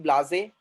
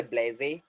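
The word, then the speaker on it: blasé: These British people, they are saying blase, but American people, they say blaze.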